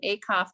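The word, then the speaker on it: Acuff: them more i i listen to that john a cough book that's how you say his name that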